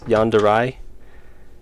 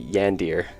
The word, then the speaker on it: yandere: Yandere. Is it A-Y-I or A? I think it's A. Yandere. It doesn't look like that's how it should be pronounced. It looks like it should be Yandir.